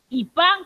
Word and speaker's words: kipá: Kipá con tilde en la A.